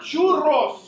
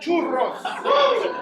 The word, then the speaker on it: churros: I heard churros. Who said churros? You didn't roll your R, player. Churros.